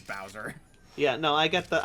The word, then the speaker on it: Bowser: like okay so his name is Bozer but I guess it's also like take a bow yeah yeah it's kind of both and then and then I heard and then I heard Mario actually pronounce it and I'm oh it is Bowser yeah no I get